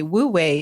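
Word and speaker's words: Wu wei: which by the way wo way is spelled Wu we I but it conveniently sounds like the word w a y way in English because it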